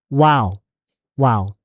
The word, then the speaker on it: while: While 이것도 마찬가지예요. L 영어 안 해도 돼요. L 발음 안 해도 돼요. 그냥 wow, wow.